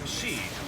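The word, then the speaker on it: し: uh is pronounced usually because the pronunciation is she which means death there's a Superstition kind of lucky number 13.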